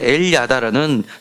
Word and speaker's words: 엘야다: 엘야다라는 것은 L이라는 것 더하기 야다라는 것을 합쳐둬서 야다가에 있는 l엘이란 니을 발음에 붙여서 엘야다 이렇게 된 겁니다. 그런데 엘야다라는 뜻은 하나님께서 아신다라는 뜻입니다.